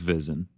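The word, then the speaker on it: VSiN: visinlive formerly of espn it's fizzin right is that you pronounce it yeah visin v-s-i-n what is it it's it's i think it's visin like vegas sin live it's a vegas thing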